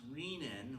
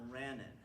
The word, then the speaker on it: renin: It's pronounced rean with a long e not renan.